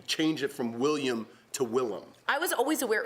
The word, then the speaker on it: Willem: If you're hearing me say Willem Dafoe, it's because it's pronounced Willem. He changed it from William to Willem.